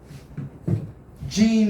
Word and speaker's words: Jean: Jean is also a man's name, but it's spelled differently. So, how do you say that in French? In French, that is pronounced Jean. Jean.